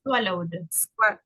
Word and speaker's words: swallowed: I Swallowed. swallowed. I swallowed. Like this. Swallowed. I swallowed. Así. Swallowed. In past will be swallow and with the D sound.